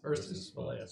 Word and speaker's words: Ursus spelaeus: Ursus Spelaeus.